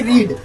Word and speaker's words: read: ही होती है, तो लेकिन उसको पढ़ा जाता है रेड, आई रेड, READ, spelling यही रहेगी लेकिन पढ़ा क्या जाएगा, रेड।